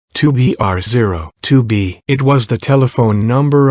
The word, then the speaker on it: 2BR0 2B: The zero in the telephone number he pronounced not. The number was 2BR0 2B.